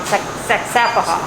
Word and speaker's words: Saxapahaw: The name wrong. Saxapahaw.